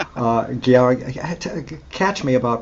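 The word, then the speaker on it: György: Gyorgy, catch me about pronunciation. Gyorgy Kurtág. Am I close? Yeah, Gyorgy Kurtág.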